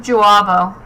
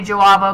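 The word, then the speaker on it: J'avo: I think the accent mark is supposed to be like for a U sound. I think it's supposed to be Juabo, because that's how Sherry pronounces it.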